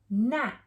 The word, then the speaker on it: gnat: first one okay so g is quiet at nat and that is a